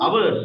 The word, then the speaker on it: hours: How many hours should Hours, hours. It is pronounced like hours. It's silent, Pute. It's silent.